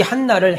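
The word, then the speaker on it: Hannah: 아셀지파 엘이 딸이라고 말합니다 안나는 히브 히브리어 발음으로는 한나입니다이 한나를 헬라어 발음으로 안나로 부르는 거예요 그런데 안나가 결혼하고 7년만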